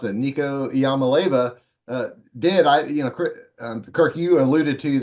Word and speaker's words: Iamaleava: And so what Nico, let's see if I can pronounce it, Nico Iamaleava did.